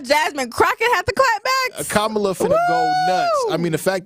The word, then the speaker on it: Kamala: Kamala Harris is now running as...